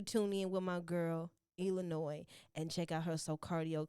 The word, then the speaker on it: Ilah Nois: And I am Ilah Nois. So my personal page is Ilah Nois on all platforms. That's Facebook, Twitter, Instagram, Snapchat. But with Instagram, it's at Ilah, ILAH_Nois, NOIS. And the S is silent.